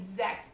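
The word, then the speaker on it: Zechs: long white hair named zex but when it's pronounced it sounded more like sex so i remember my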